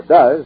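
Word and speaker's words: Duz: Ask for Does, that's spelled D-U-Z, today, in that big red and white box.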